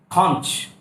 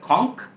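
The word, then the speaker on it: conch: कॉन्च, शंख जो होता है उसको या तो बोला जाता है कॉन्क या बोला जाता है कॉन्च। यहाँ पर च की भी प्रोनाउंसिएशन है और सॉरी श की प्रोनाउंसिएशन भी बोली जाती है कॉन्च, कॉन्च, कॉन्क। कॉन्च भी कुछ लोग बोल देते हैं बट एक्चुअली में कुछ लोग इसको जो करेक्ट बोलना चाहिए वो ये तो कॉन्क या बोला जाता है कॉन्च।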